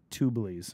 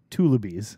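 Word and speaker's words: tullibees: The 150 out of the 200 places were tubulies. Am I saying it right? No. Tullabies. Yep.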